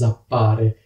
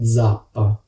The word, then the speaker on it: zappa: So the noun is "zappa", while the verb is "zappare". It starts with Z and the letter Z should be pronounced this way: zappa. Not /tsappa/, but /dzappa/.